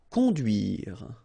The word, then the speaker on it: conduire: Conduire. Okay, remember U, du, duire. Conduire.